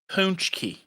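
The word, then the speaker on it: pączki: or cream and covered in powdered sugar rcing pronunciation punchki what about kachis kachis are delicious they're like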